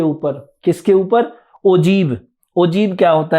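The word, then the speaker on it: ogive: ओजीव क्या होता है? The term ओजीव is pronounced as ए ओजीव एंड is derive from the word OG.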